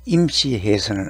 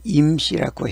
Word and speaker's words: 임: 이 임은 짧게 임씨해서는 안 되고 좀 길게 임씨라고 해야 발음이 맞는 것 같습니다.